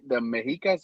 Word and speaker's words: Mexicas: the Galgos and the Mexicanos, Mexicas, Yeah, the Mexicas. Yeah, that's the correct.